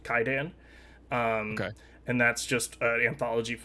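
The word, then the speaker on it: Kwaidan: One of my favorite Japanese movies is called uh it's spelled Quaidan, pronounced Kaidan.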